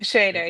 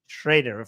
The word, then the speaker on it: Schrader: Do I pronounce it right? Shredder. Right. Shider. Yeah. Shider.